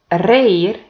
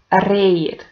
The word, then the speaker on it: reír: have two letters R, one at the beginning that is pronounced strongly and one at the end that is pronounced softly. So, we pronounce this word reír, and I pronounce the